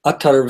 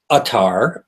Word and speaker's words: attar: term first of all the term UT is an Arabic word it is spelled a t t a and sometimes it is also pronounced or of course it's easier for a lot of people to just say atar now we need to